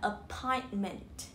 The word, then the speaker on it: appointment: Thì trong khi mình đọc nhanh thì mình sẽ bỏ cái âm đó đi, nó sẽ trở thành một âm chặn. Thì mình sẽ đọc là appointment.